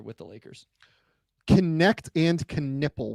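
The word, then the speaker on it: Knueppel: Connect and Knippel. When was the last time we had two KNs that pronounce both the K and the N in the draft?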